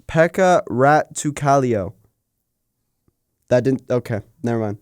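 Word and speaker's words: Pekka Rautakallio: pronounced Pekka Rattukalio.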